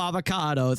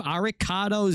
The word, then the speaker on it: Arikado: Thank you, Ariccado. Avocado. How do you say your name? Aricado.